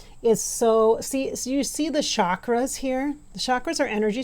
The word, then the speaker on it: chakra: so you see the chakras here. The chakras are energy centers of the body. Most of you know that, but if you don't, it's called it's spelled chakra, like chalk with a K-R-A.